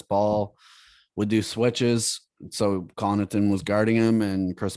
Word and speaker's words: Connaughton: Connaughton? Oh, Connaughton.